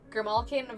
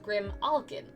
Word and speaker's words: grimalkin: it's clearly very different it's all about emphasis grimalkin versus Grim Alin some have emphasis on the all some have emphasis on the kin interesting I can't believe all of you know this CL believe all of you know this it's the same bre it's fine well I do the kin so that was very